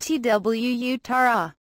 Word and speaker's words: Tuatara: Following several years of design and development of its revolutionary new supercar, SSC has named its new car Tuatara, pronounced T-W-U-Tara.